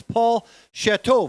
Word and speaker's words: Paul Chateau: I mispronounced Paul's name a couple times. He corrected me. It's Paul Chateau, veteran starter, starting the men's today.